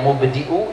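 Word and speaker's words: مبدئ: Ya mubdi'u ya khaliq, pakai hamzah. Mubdi bukan pakai ain, pakai hamzah. Ya mubdi'u ya khaliq.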